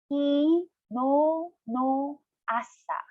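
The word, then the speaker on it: 昨日の朝: You have to pronounce no of kino a little bit longer because there's another vowel attached to no.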